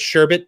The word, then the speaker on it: sherbet: Will you now accept that sherbet doesn't have an R in the end?